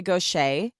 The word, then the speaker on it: Gauthier: meet her is Mary Gaucher. Her Okay. last name is spelled Gauthier. So very different. I mean, she's French, must be. Oh, like Gautier.